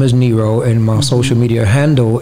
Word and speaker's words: Nero: Because the Nero almost sound like Nemo. No, so man, you got something? Yeah, but every time you ask me that, but it also rhymes with hero too, and which is a great segue.